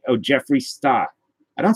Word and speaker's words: Jeffree Star: I don't say Jeff Wee. I'm not that kid at school pronouncing it. Jeff Wee.